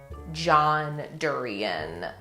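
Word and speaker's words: John Derian: I think the only thing that I was like, oh my God, that's so cool, is the John Durian. Am I pronouncing that right?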